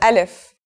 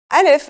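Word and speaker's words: ألف: begin we start with alif so what sound does this letter make that's easy it's just like its english counterpart a in the word apple alif is very easy to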